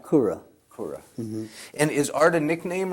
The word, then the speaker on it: Koura: that correct for now uh last name yes pronounced kura and is art a nickname or is that